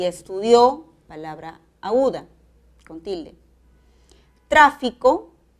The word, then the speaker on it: estudió: El acento va a la última sílaba y es necesario la tilde de la aguda. Estudio, palabra grave, y estudió, palabra aguda, con tilde.